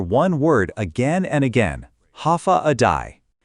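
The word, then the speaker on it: Håfa Adai: Step foot on Guam and you'll hear one word again and again, ha aai. Pronounced ha a day.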